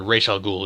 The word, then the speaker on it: Ra's al Ghul: her I guess sorry Rachel Ghul is the proper pronunciation right he has n